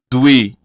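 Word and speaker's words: dwe: O W, como mencionado anteriormente, o W tem som de U. Por exemplo, doer, doer, que significa dever.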